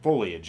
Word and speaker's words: foliage: And there was nothing but beautiful foliage. Or foliage, I should say. God damn it, I said it wrong on purpose.